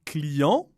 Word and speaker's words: client: Le client. La cliente. ¿Ves? Client, no pronunciamos la T.